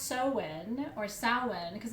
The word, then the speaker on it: Samhain: the tools are um um so samhain which is spelled s-a-m-h-a-i-n uh but it's pronounced so when or samhain because it's a gaelic word and